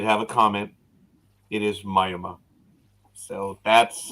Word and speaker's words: Miami: know Jay did have a comment it is Myoma so that's how they pronounce it yet in Klingon it's mayama in Latin it's mayama in Spanish it's oh don't get it oh it's Miami it's Miami Miami rest of the world is